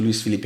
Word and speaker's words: Luís: seu nome Pois é meu nome é luí Felipe né só Tecnicamente só quem me chama de Luiz Felipe é minha mãe na hora que tá brava então ela sempre fala Felipe